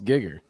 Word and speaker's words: Giger: We're like, dude, it's Geiger, and you're like, dude, it's Giger. It is Giger. I know. See, there you go. So you're doing it too. I listened to the man say it himself. It's Giger.